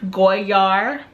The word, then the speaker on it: Goyard: I believe you actually say it Goyard. I think I read somewhere that the D is silent.